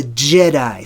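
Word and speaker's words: Djedi: The D is sort of, you know, it's become silent in our day and age today, but it's J, the Jedi.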